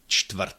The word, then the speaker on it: čtvrt: Čtvrt, it's a little bit more difficult to pronounce because there is ch at the beginning, ch, t. Ch is an affricate, but it has this plosive component, and t is a plosive, so combining those two is not that natural.